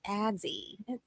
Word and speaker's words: Azzi: whole time I'm like, it's Azzi. You say her name wrong.